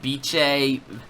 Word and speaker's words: Bice: really specify the pronunciation they just said it's pronounced like bi CH e so more like Beach a beach my friends call me